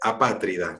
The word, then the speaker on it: apátrida: vamos cortes el rostro la pronunciación correcta es apátrida con acento en la a si entonces cuando